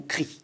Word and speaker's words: cric: Vous savez on peut prononcer en français le mot cri, cric ou cri.